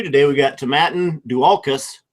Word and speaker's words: Dualchas: We got Tomatin Dualchas. It's a hard C. It's not Dualchas.